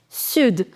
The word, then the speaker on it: sud: Sud. Now, I told you, yes, that you do not pronounce the last consonant in French, but there are certain exceptions also. So here you'll pronounce D also, sud.